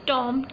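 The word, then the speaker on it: tomb: Tansen टॉम इज़ in Gwalior, Tansen नाम का एक फेमस टॉम है, टॉम बेटा ग्वालियर में, टॉम बोलते, टॉम be here silent टॉम।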